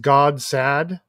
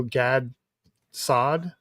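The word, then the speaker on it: Gad Saad: figure out how to I've heard his name pronounced God sad, which is a really funny phrase. And also Gad Sad. I've always heard it pronounced Gads Sad.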